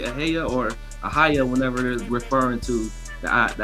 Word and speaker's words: Ahi'Yah: Oh no, you pronounce it. You pronounce it right. Aaya. That's it. That's it. Aaya.